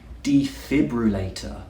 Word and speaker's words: defibrillator: Now, this one is a bit of a tongue twister. We can break it into 5 sounds.